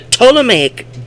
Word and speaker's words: Ptolemaic: researched in history, the Ptolemaic, Ptolemaic. I often would pronounce the P back in the day, but you're not supposed to pronounce the P.